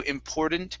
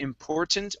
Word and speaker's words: important: Okay, so we can't use a flap T right here. We can use a stop T at the end, but you would really need to use a natural T here in the middle. So either Okay. important or important because there is a vowel and an AN after that T.